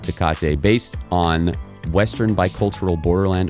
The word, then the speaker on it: Tecate: a t-shirt on advertising a mexican beer called tkate it's actually pronounced okay i was just you made my brain freeze for a second there i was like do i correct him does he actually think it's tkc it's called takata it's a mexican beer called